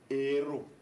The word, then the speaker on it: héros: Quand je dis hôpital, le H est muet, mais héros, le H ici est aspiré.